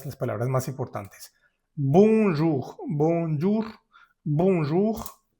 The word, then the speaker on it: bonjour: Fíjate que aquí ya tenemos en la primera sílaba, al final de la sílaba, tenemos la ON. La O pertenece al tercer grupo de de vocales nasales. Aquí lo tenemos. O n o también OM se pronuncia con la boca muy cerrada, mucho más cerrada que en español.